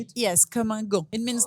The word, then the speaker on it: Comme Un Gant: Is that how you pronounce it or how to say it? Yes, Comme Un Gant.